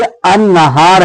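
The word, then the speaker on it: النهار: क्या हो गया कि अन्नहार है। तो डायरेक्ट नून पर क्या पढ़ रहा है? अलिफ और नून पढ़ा जा रहा है। लाम क्या हो गया? साइलेंट हो गया, लाम को पढ़ा नहीं गया।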